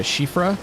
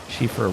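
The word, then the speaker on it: Siofra: if we can find uh go back to shifra that's how it's pronounced shifra River see we can find noon I think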